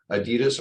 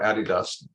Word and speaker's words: Adidas: He has benefited clients including Amazon, the NFL, Adidas or Adidas, depending on how you want to pronounce it, and the Food Network.